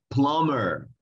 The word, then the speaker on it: plumber: Y esa profesión en inglés se dice plumber, plumber, no plumber, sino plumber, plumber.